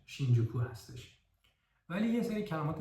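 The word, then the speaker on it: 新宿: هست شین کانسن و یه کلمه دیگه که تلفظش شینجوکو هستش ولی یه سری کلمات دیگه هستش که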